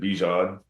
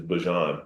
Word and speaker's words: Bijan: Um, and I just said like, I pronounce it Bjan, but my mom, you know, her pronunciation for it is is Bjon.